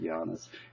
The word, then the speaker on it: Janis: Now I am a male Latvian Giannis, spelled Janis, pronounced Giannis.